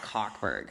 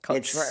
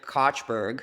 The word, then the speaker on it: Kochberg: No, it's not Cockberg. Well, it's Coachberg. It's Coachberg. Others pronounce it Kochberg.